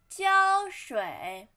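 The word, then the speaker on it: 胶水: 器 and then glue 胶水胶水胶水胶水胶 flat tone 水 third tone 胶水 and then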